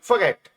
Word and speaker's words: forget: Don't फॉरगेट। इसमें जो आर है यह पूरी तरह से प्रोनाउंस नहीं करना है। आधा आर प्रोनाउंस करना है। डोंट फॉरगेट नहीं होगा।